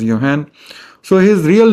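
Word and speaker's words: Johann: So well Mendel uh was born raised and he resided in that part of Europe where this spelling does not get pronounced as Zohan. It is pronounced as Yan.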